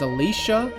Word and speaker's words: Alicia: But they do pronounce her name as Alicia.